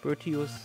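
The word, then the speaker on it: Boëtius: Dann hätten wir hier Bötius oder Bötius. Aber ich denke mal, er wird Bötius ausgesprochen von Mainz.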